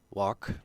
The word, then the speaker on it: walk: oftenly confused often confused walk sounds like talk versus work sounds like